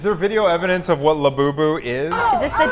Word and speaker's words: Labubu: Caitlin, you want to kick us off here with, I don't even know how You to pronounce it, it's Labubu. Okay, Labubu.